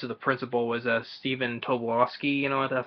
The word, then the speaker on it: Tobolowsky: Actually, the voice of the principal was Stephen Tobolowsky, you know, that's how his last name is pronounced.